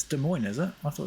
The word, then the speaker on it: Des Moines: Yeah, that's how the locals pronounce it, Des Moines.